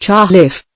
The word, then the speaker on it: Chalif: As I write this chapter, I have before me a letter from Edward Elchalif, pronounced Chahiff, who was active in boy scout work.